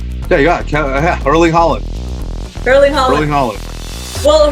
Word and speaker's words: Haaland: So the next one, I don't want to really butcher the name. Is it Haaland? Yeah, you got it. Erling Haaland.